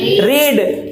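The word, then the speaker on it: read: को क्या बोलते हैं रीड तो इसकी सेकंड फॉर्म क्या होगी रीड और थर्ड फॉर्म भी क्या होगी रीड यानी सेकंड फॉर्म इसको हालाकि रीड ही होती है लेकिन इसका उच्चारण रेड बोला जाता है तो यहां पर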